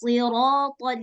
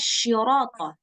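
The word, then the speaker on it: الصراط: Nah, jadi seharusnya kita bacanya ihdinas siratal mustaqim. Tapi kita bacanya ihdinas syirata.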